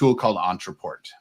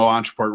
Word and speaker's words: Ontraport: Entreport.